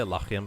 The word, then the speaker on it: Lachiem: By the way, I say Lachiem because that's kind of how you pronounce the H in German.